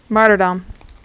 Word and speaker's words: martyrdom: spell it m-a-r-t y-r-d-o-n martyrdom made her down because it's the the first part is martyr i know that's how